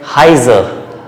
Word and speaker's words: heiser: The sound is I because the second alphabet is I.